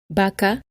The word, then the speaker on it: vaca: Both B and V are pronounced B at the beginning of a word. Baño, beso, billete, bola, bus. Vaca, verbo, video, voz, vulgar.